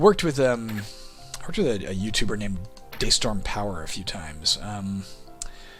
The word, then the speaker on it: DeStorm: met him I missed I mispronounced his name I called him Daystar he was greatly amused I don't know if you know that name DeStorm power use pretty cool